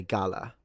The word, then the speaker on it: gala: This one I would say gala. I would stress it at the beginning.